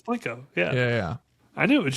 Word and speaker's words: Plinko: No, yeah, it's Plinko.